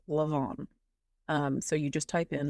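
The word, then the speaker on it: Leamaneh: You can just type in Leamanah Castle, and it is an Irish word. So let me spell that for you. It is Leamenah. It is pronounced Leamanah.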